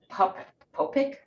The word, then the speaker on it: Popyk: For today, I want to talk about this very special occasion with a friend named Mary Ellen Popyk. I said it right. Popek.